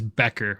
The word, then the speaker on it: Becker: Griffins giving me the correct pronunciation of his name instead of calling him Betcher this whole time. It is Becker, with a K. So now everybody knows that's the correct way to say it.